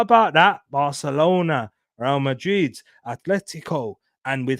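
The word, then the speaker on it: Atlético: could make the final if Atletico go Atletico go through not Athletico cuz you know different Athletic Club um they're the ones that he actually pronounced with the th but because they I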